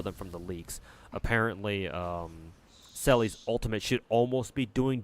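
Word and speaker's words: Seele: Back when I first started playing Star Rail, I think I pronounced Selly's name as Zeal, or how did I pronounce it? I forget at this point. And I had some dude come into my chat and tell me, no, her name isn't pronounced like, you know, so and so, or however I pronounced it back then. It's Selly.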